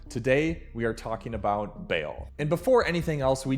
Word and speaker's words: Baal: So, I know people pronounce his name differently, Baal, Baal, Baal. I'm going to say Baal because I've always said it that way and because I have Baal knowledge.